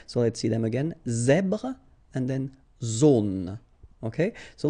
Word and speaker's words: zèbre: Well, Z combined with the E accent grave. E accent grave is, so I don't know if you remember, it's pronounced A. Okay, so really open A. Okay, so you get the sound Z, Z here. So the full word goes like zèbre. Okay, zèbre.